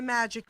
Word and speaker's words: Majik: the Magic Man and my name magic it sounds like Magic Mike most people know but it's actually spelled with a J instead of a G but phonetically it sounds the same how you doing Jerry